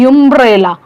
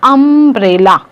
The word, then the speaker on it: umbrella: वी आर not saying यूम्ब्रेला, हम लोग बोल रहे हैं अम्ब्रेला।